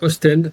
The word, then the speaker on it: Oostende: Oostende.